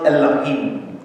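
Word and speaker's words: אֱלֹהִים: Y se pronuncia más o menos Elohim, porque la cosa que está como una X es una Aleph que no se pronuncia, los puntitos de abajo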